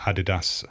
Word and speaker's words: adidas: went on to start adidas and puma respectively wow adolf dassler is what adidas stands for so all those americans saying adidas it's adi das adi dassler right so you're wrong and